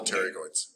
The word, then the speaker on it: pterygoids: yeah that's good though you're right the p is silent the dress didn't open it's all right good terry coits medial and lateral pterygoids yeah because the one